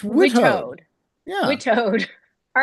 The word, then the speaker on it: WITAOD: WETOD. It's like WETOD. Wittes. All right, I'm on WETOD watch. No, not and we. You don't pronounce my name. Oh, It's Witoad. WITOD.